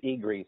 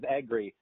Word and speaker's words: Egry: and i was saying that about 90 of the people pronounce it as igri so i learned it as angry and i and i